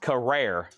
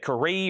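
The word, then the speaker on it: Carrere: It's pronounced Carrer. Carrer. Okay. Carrer. Thank you. I've been No one's ever really said. It's pronounced this way. I've always said Karee or Carrer.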